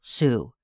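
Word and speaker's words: Sault: They did have the victim's wallet, and they were able to identify him as Calvin Russell Sue. His last name is spelled S A U L T.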